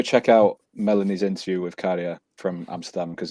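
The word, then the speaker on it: Käärijä: I now know that that's also the way that you pronounce baby is also kind of how you say the A's in Karia's name. It's the same thing. So it's like Karia, sort of something like that, rather than like Karia.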